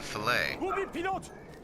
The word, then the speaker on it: fillet: Not necessarily all over the world, but one of the rules in England is that if it's a French adopted word, it must be pronounced with its English pronunciation, not with the French.